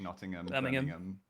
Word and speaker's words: Nottingham: It's anywhere with hamm as well as just um not ham. So like Nottingham. Yeah. Rodom. Yeah. Sorry. H isn't a letter here.